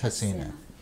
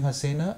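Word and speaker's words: jacana: goa called a-- Hasina it's spelt as j AC and it's g AC a na but ours is the spanish name so it's Hasina so we have the bronze being Hasina and we have the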